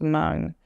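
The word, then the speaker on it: Hmong: M it's hm o n g but it's pronounced M and uh they have their own language their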